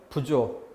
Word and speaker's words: 부조: 해요 2주 한다고 하죠 발음을 다들 그렇게 했지만 부주 구조 하지만 음 상호 부조 목돈 들어갈 때 한번에 준비 하기 어려우니까 않은 사람들이 모아서 조금씩 모아서 도와준다 이란 뜻으로 부조 뜻이 살아있으니까 사돈 작은데 오른쪽에 강낭콩